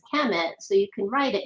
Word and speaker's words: Khemit: So the KMT we pronounce as Khemit, so you can write it in many different ways.